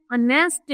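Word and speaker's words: honest: For example, an ऑनेस्ट मैन. एच से शुरू है लेकिन एच क्या है यहाँ पर? साइलेंट है. किससे शुरू हो रहा है? ऑनेस्ट. ओ, तो हम लड़िए ओ से, है ना.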